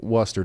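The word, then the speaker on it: Worcester: It's pronounced like rooster. Okay. Hey, listen. You guys have to figure this out. I'm I'm still saying Worester.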